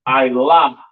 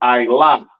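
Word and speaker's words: עלה: This word is pronounced Ilah in Hebrew. Ilah in Hebrew.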